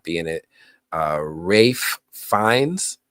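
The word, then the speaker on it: Ralph Fiennes: Rafe Fiennes, I always got to say it properly because otherwise I'm going to pronounce it phonetically.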